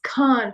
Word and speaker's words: Khan: movie said States and he says Khan from the epiglottis you know it's like KH so so sh Khan he's